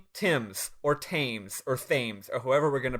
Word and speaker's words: Thames: Tims or tames or themes or however we're going to pronounce it um it spells the same R same way as the River in England which they pronounced Tims and I refuse to